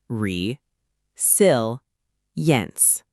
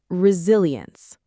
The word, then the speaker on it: resilience: Many learners struggle with the li sound in the middle. Listen carefully. Re-sil-yence. Let's break it into syllables. Re, sil, yence. Now together, slowly. Re-sil-yence. Resilience. Great.